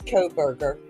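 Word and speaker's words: Kohberger: to pronounce that name it looks like co-burger okay yeah it's co-berger so he was just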